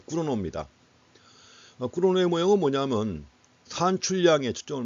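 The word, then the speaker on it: Cournot: 그래서 여긴 쿠르노라고 했는데 발음은 또 영어식으로 발음해놨어요. 발음을 아예 그 영어식으로 다 하려면 끝까지 영어식으로 하든지 아니면 원래 본래 이름을 불러주든지 해야 되는데, 또 쿠르노라고 이렇게 불러놨습니다. 어쨌든 간에 꾸르노입니다.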